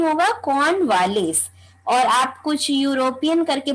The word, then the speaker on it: Cornwallis: पुष्कर, वो Lord कॉर्नवालिस, क्या pronunciation होगा? कॉर्नवालिस।